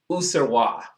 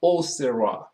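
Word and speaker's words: Auxerrois: And one of those wines uh with a word on it that's spelled A U X E R R O I S Userwa or Oerwa Serwa is a white grape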